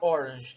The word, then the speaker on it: Orange: Vamos pronunciar Orange, tá? Porque é holandês.